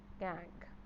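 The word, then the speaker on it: gangue: Okay, pronounces as गैंग।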